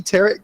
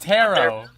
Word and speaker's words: tarot: of the X-Men oh look I've got spooky terot cards ooh the fool you said it wrong it's pronounced tarot he uses he uses standard like playing cards